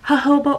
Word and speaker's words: jojoba: my uh jojoba let me say it correctly jojoba oil i put my jojoba oil on it